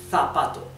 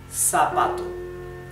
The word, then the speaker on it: zapato: In Spain, they would pronounce it zapato, zapato. In Latin America, it would be zapato, zapato.